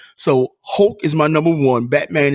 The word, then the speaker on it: Hulk: Because usually I say Hulk. Like, it ain't Huck, Daddy, it's Hulk. So Hulk is my number one.